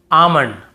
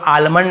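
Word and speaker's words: almond: जैसे काम बाम पाम और यहां पे आमंड बहुत से लोग आलमंड ऐसे बोल देते हैं।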